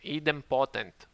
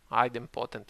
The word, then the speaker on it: idempotent: Okay, so it's not idempotent. Idempotent, I said last time, but correct pronunciation, idempotent.